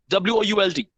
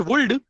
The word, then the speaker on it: would: We're going to start with the next word, would, W-O-U-L-D. It's not would, it's would. L is silent.